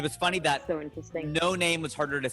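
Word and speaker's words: Noname: name was no name her name was literally no name n-o-n-a-m-e and when people would see it they're like what's her name nanami or naname and she's like no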